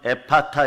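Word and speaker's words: ἐφφαθά: 네, 원래 발음은 에파타 이러죠. 에바다 열리기를 바라십니까?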